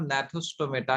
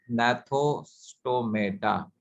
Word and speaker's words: Gnathostomata: ठीक है, और एग्नाथोस्टोमेटा, और जिसमें जॉ प्रेजेंट होता है उसे हम नैथोस्टोमेटा के नाम से जानते हैं। Here ji is silent, नैथोस्टोमेटा।